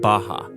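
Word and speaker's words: Barra: Out here in the west is a place called Baja. R's are pronounced like H in Portuguese.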